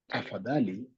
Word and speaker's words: tafadhali: So please is tafadhali. Tafadhali. Tafadhali. So you say tafadhali nisaidie. You missed the F. Tafadhali nisaidie. Please help me. This means please help. Please help me. Tafadhali nisaidie.